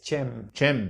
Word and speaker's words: Cem: It's Cem. Cem Yılmaz. Cem Yılmaz. On Wikipedia, he's got a pronunciation.